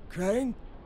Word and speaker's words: Crane: no my name's crank crane crane rhymes with train and brain and S and Grain and rain and plane and the other kind of plane and and can I